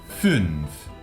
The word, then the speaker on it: fünf: La U con umlaut la pronunciaremos poniendo boca de U, y sin mover los labios pronunciaremos por dentro una I. U, Ü. Fünf.